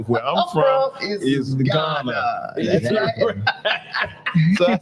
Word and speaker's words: Garner: they say Ghana West Africa I said no Ghana North Carolina they said spell it I said g a r n e